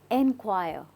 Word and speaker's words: enquire: it with me right inquire repeat inquire so this r e is not really heard you don't really say it so you when you say it it's just so simple and it's very subtle inquire I hope you